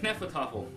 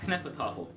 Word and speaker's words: Hnefatafl: It is actually a travel game of Hnefatafl. And I believe that's the correct pronunciation of it. Hnefatafl.